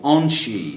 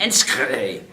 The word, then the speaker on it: Enschede: immigration guy, I said, I'm heading to this place called Onsheed. And he sort of looked at me. What do you mean Onsheed? And so I said, I had to spell it out for him. He said, you mean Enschede.